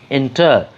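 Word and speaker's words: enter: বলেছিলাম, অ্যাডমিট যেমন বলেছিলাম, এন্টার কিন্তু আমরা প্লেন উচ্চারণ করছি। আমাদের লাস্ট যে সিলেবল TER, এই সিলেবেলে আমরা কোনো চাপ দিচ্ছি না, কোনো স্ট্রেস দিচ্ছি না, জোর দিয়ে কিছু বলতে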